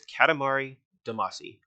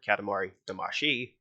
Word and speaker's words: Katamari Damacy: This is a feeling that I have experienced once before, and that game was Katamari Damacy, or Katamari Damashi, depending on how you pronounce it.